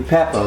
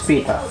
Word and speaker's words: Pippa: Sometimes people call you Peppa, right? But your name is not Peppa. That's spelled P-E-P-P-A. Your name is Pippa.